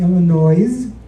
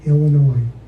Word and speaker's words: Illinois: do such and such a thing back in Illinois I said it it's actually pronounced Illinois now the comedy God of Snappy comebacks was